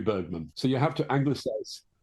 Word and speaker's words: Bergman: instance Bergman they'll say you don't want to pronounce it correctly because nobody in England will know who you're talking about if you say Berman it's got to be Bergman.